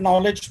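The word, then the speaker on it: GNOWLEDGE: So this is it's called Knowledge, but spelled with G and OW.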